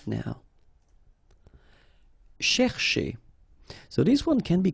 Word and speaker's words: chercher: So this first part here, C-H-E-R, you will pronounce it quite open, so it's cher, cher, okay? And then here, just because you've got this ER at the end, okay? If you remember, the rule goes like ER at the end will be pronounced E, okay? So you get chez, all right? So chercher, chercher, okay?